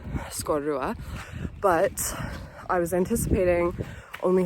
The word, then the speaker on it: Sgòrr Ruadh: So at the time when I mispronounced the name of that Monroe I was mad about it at the time and I'm still mad about it. So yes, it's just Ben Leavore and um Scorua.